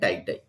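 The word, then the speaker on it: itai-itai: I is silent. It is also called tie disease. So remember these two important names of cadmium poisoning: ouch and tie.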